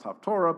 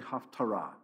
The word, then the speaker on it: haftarah: that reading is called the haftarah reading sometimes pronounced taftora but it's really haftarah what that means is they look at the